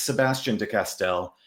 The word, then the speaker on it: Sebastien de Castell: Oh, well, there's no wrong way to pronounce it. So I think it's funny because I hear my name spoken far more often than I ever Yeah. say it. So when someone says, "How do you pronounce your name?" I get confused. But it's Sebastien de Castell. I But you're guess more than welcome L. to use the French pronunciation, and Sebastien is fine too.